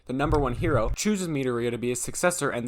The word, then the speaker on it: Midoriya: name the series stars izuku midoriya midoriya midoriya that's how you say it i think i think that's how you say it i think japanese names are hard i'm going to